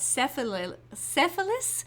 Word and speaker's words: Cephalus: gotta say this right cephalus which sounds like some venereal disease unfortunately but that's I'll